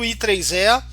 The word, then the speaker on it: IEEE: Até que um dia foi padronizado pelo I3E, né? Se pronuncia IEEE ou I3E, pelo I3E, esse padrão de USB que a gente utiliza hoje.